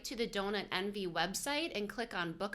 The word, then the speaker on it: DonutNV: So just so people understand, the way it's spelled is the word donut, D-O-N-U-T, and then immediately the capital letters N and V. So it looks like Nevada. It's nothing to do with Nevada. It's very simply just a play on words. So the word envy, E-N-V-Y, but it's DonutNV is how it's said, and it's spelled D-O-N-U-T, envy.